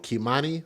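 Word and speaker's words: Keimani: make sure we pronounce her name correctly and spell it correctly, K-E-I, M-A-N-I, Kimani Latigue, L-A-T-I-G-U-E.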